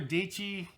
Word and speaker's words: Dichi: a link below to Sarah dichi rhymes with peachy she like captured as